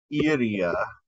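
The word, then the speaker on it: iría: So you got iria, yes, accent in the second I. There's stress in that vowel in that syllable, right?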